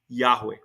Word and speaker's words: Yahweh: to say Je but the great pronunciation has always been Yahweh yah we see here